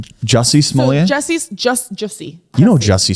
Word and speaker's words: Jussie Smollett: I think you're pronouncing it the way Dave Chappelle did it. He called him Juicy Smollett.